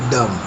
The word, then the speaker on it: dumb: If we hear 1 vowel sound, the word has 1 syllable, like dumb. Note that we do not say the silent B in the word dumb.